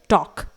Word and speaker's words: talk: इसके बाद है टॉक, TALK, टॉक, यहां पर भी ऑब्वियसली K से पहले L आया हुआ है तो L को प्रोनाउंस नहीं किया जाएगा, इट इज टॉक।